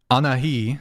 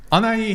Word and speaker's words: Anahi: yeah 10 minutes yeah anahi did I say it right no should I just say bangs no I can't pronounce your name anai an i woman anai anai yes anai here is a feminist